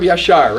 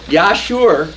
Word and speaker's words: Yashar: The book of Yashar, right. People in Minnesota call it the book of Yashur, you betcha.